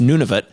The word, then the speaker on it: Nunavut: new territory was formed it was called it's pronounced nunavut but it's spelled none of it basically and